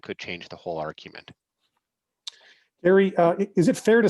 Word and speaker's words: Gerry: I was actually pronounced Gary, and he drew boundaries that would make some congressional districts more Republican and others more Democrat.